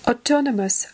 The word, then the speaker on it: autonomous: Autonomous. Autonomous. Независимый, самостоятельный. Accurate. Approachable. Articulate. Astute. Attentive, autonomous, autonomous на о ударение, независимый, самостоятельный.